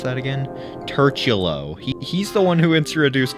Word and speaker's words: turtulo: Finally, shout out to how the fuck do you pronounce that again? Turchulo.